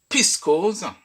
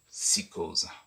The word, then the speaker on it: psychose: les anglophones en évident en évitant de prononcer simplement le P AINS au lieu de